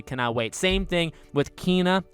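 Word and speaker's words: Kena: wait same thing with kina which is how you say it by the way not kenna kina bridge of spirits which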